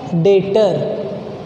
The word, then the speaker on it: debtor: डेटर। देखो लिखते डेप्टर है DEBTOR, पर जब बोलते हैं ना तो बी साइलेंट रहता है। बी क्या रहता है? साइलेंट।